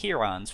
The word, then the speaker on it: Heron: But the name for this formula is Heron's formula. It looks like the bird heron, but it's pronounced Heron.